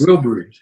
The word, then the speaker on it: Wilburys: Wilburys.